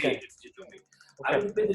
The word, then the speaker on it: djembe: I want to play the djembe, because the actual pronunciation is djembe. The way they say it is djembe.